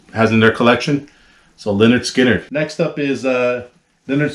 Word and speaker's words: Lynyrd Skynyrd: how they even made people know the pronunciation of the band pronounce Leonard Skinner uh some great uh